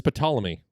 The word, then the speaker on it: Ptolemy: I don't know how to pronounce. Hold still. It's Claudius Ptolemy.